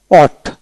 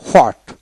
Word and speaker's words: what: এইভাবে আসেন WHAT, অট, অট, WAT, অট, এইচ উচ্চারণ হবে না, WAT, অট, অট। আবার এটা ক্ষেত্রে হোয়াট, হোয়াট। ফোনেটিক্সে অটের উচ্চারণ ব্রিটিশ আমেরিকা সবাই করে অট, আর ইন্ডিয়ান সাবকন্টিনেন্টে ম্যাক্সিমাম ক্ষেত্রে হট উচ্চারিত করে।